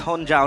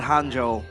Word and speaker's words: Honjo: It's Honjo, not Hanjo. Cuz Hanjo is like the hero, the guy that can Yeah, that's Hanzo.